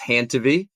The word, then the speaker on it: Handtevy: It rhymes with your name. So it's Hantiv.